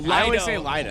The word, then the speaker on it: Leody: Lido. It's I just love saying Leody though. Leody. That sounds It's It's lido though. You're right.